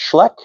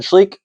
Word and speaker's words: Schleich: Before you say it, I know that it's not pronounced Schleich, it's pronounced Schleck, but my family and I have always said Schleich ever since I was a little kid and I'm just going to stick with my habits.